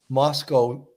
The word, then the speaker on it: Moscow: line that he said Moscow rhymes with Costco or I don't know